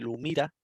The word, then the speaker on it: Lumira: SAP tiene uno que se llama SAP Lumira, L-U-M-I-R-A.